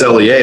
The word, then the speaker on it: Lea: it wrong okay people people know it's Lea but they say isn't that Leah and I say I don't know do you drink Tia see dude you you're just